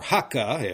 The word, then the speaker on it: Hakka: and these newly arrived guest people, these or haka as Ka is pronounced in Cantonese, lived side by side.